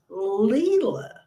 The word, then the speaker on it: Leah: My great-granddaughter is Leah, pronounced Leela.